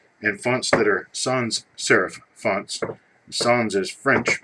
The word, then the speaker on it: serif: it is not pronounced serife and it is not pronounced serif' it is pronounced serif you learn a lot